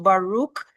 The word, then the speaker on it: Baruch: So Baruch, it's pronounced Baruch. It's from the Hebrew mean blessed.